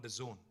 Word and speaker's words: DAZN: and exciting company called The Zone it is pronounced the Zone but it's spelled dazn now the zone is